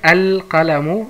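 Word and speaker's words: القلم: Und bevor ich die andere Beispiel schreibe, das Beispiel schreibe, also Qaf ist ein Mundbuchstabe, deswegen hat man hier keine Shadda und die Lam wird ausgesprochen.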